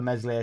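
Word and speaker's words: Meslier: the jokes we are talking about mesle silent s his distribution's always been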